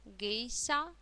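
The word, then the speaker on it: 芸者: Обратите внимание на ша, как читается слог ша, гейша.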